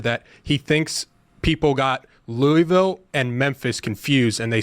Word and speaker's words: Louisville: I can't figure out the disrespect the committee gave to Louisville because in the final AP poll, I think you're pronouncing it wrong. I think it's Louisville.